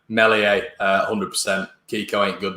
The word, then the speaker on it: Meslier: not pronouncing melies right i keep calling him meslier um but yeah mellie a uh 100 kiko ain't